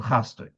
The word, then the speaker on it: chasdoi: It says Yadgish hasamech shel chasdoi. You should stress the samech of the word chasdoi. And he's asking, what's it mean, stress?